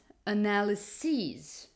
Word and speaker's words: analyses: in English is that those plural forms always have the stress, always have the accent on the last syllable, on the last part, pronounceable part of the word. So the singular would be crisis, the plural would be crises, analysis, analyses.